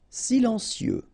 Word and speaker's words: silencieux: Silencieux, final X not pronounced, okay? This part here will be pronounced like cieux, okay? Then you get silencieux, silencieux.